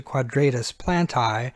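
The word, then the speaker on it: quadratus plantae: in the hand to quadratus plant eye so if you'll pronounce it quadratus Plante the red ones there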